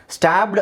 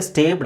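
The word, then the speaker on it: stabbed: ಸೋ ನಾವು ಇಡಿ ಸೇರಿಸಿದಾಗ ಬರಿ ನಾವು ಬಿ ಗೆ ಬಿ ಗೆ ಇಡಿ ಸೇರಿಸೋಕೆ ಆಗಲ್ಲ ಅದನ್ನ ಡಬಲ್ ಮಾಡಬೇಕು ಇಲ್ಲ ಅಂದ್ರೆ ಅದರ ಉಚ್ಚಾರಣೆ ಸ್ಟೇಡ್ ಆಗುತ್ತೆ ರೈಟ್ ಸ್ಟೇಡ್ ಆಗುತ್ತೆ ಹಾಗಾಗಿ ನಮಗೆ ಶಾರ್ಟ್ ವೊವೆಲ್ ಉಚ್ಚಾರಣೆ ಬೇಕು ಅಂತ ಹೇಳಿದ್ರೆ ನಾವೇನು ಮಾಡಬೇಕು ಡಬಲ್ ಮಾಡಬೇಕು ಅದನ್ನ ಅವಾಗ ಅದು ಸ್ಟ್ಯಾಬ್ಡ್ ಅಂತಾನೆ ಉಳಿದುಕೊಳ್ಳುತ್ತೆ ಸ್ಟೇಬ್ಡ್ ಆಗೋದಿಲ್ಲ ಮೂಲ ಉಚ್ಚಾರಣೆ ಏನು ಸ್ಟ್ಯಾಬ್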